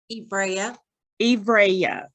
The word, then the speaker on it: Ivriya: Well, with this experience, let me make sure I'm pronouncing it right. Ivriya. Yes, ma'am.